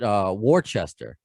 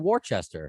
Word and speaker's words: Worcester: But I used to call it Worcester. Oh, I know it's Worcester.